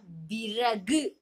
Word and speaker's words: விறகு: சரியா சரி இப்ப பாருங்க விறகு எப்படி சொல்றோம் விறகு விற விர விறகு அப்படின்னு சொல்றோம் இல்லையா நம்ம என்ன விறகு அப்படின்னு சொல்றோம் விறகு அப்படின்னு சொல்றோம் சொல்றோம் இல்லையா நல்லா நம்ம அழுத்தம் கொடுத்து நா வண்ணத்தை மடக்கி சொல்றோம் இல்லையா நம்மள அறியாமலே அதுக்கு பேர்தான் என்னது வல்லின ரா சரியா கண்ணா இதை நீங்க